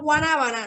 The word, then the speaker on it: guanábana: Cuando nosotros decimos guanábana, no pronunciamos la G, decimos guanábana, no pronunciamos la G.